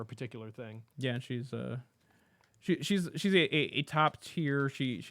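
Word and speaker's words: Shi: Shy the series. Which I always pronounce.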